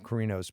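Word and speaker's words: Carino: portion of this program talked about Megyn Bacardi's kirino's peace Megan McCarty Kirino is how you say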